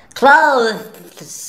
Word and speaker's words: clothes: Clothes. It's difficult to say. How do you say it? Well, American people make it easier and they say clothes. Simply, clothes. It's like close the door.